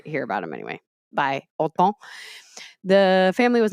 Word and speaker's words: Hortense: the phonetic English spelling, which is Hortense, is how it's spelled, but it's pronounced in French as like autant. It's so different, but it's literally, yeah, autant. And out here we're like, Hortense, come on.